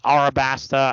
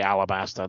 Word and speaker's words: Arabasta: we get to Alabaster now some people will say arabasta I mean it's pronounced that way in manga and Japanese but in the English translation they say Alabaster the entire time um this one's cool